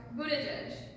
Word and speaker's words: Buttigieg: And then this is actually pronounced Buttigieg.